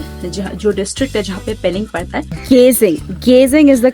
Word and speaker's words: Geyzing: Geyzing is the correct pronunciation. Ghasing is the name of the district. You will be brought there. Then you have to come to Pelling from Geyzing.